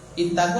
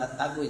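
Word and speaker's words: اتقوا: Jadi ittaqu bukan at-taqu ya. Karena kata benda, kata kerja itu kalau dia huruf ketiga itu fathah atau kasrah maka harkat alifnya itu di kasrah.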